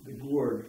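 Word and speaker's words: Gourde: And Grandpa Bernard lived down the road a piece with the Gourd family, G-O-U-R-D-E, at least that's how I pronounce the name.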